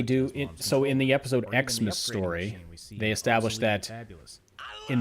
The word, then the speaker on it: Xmas: It's established that Christmas is now pronounced Xmas and ask is now pronounced ax.